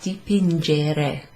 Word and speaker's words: dipingere: There's a soft G in the verb itself, dipingere, because it's got an E after the G.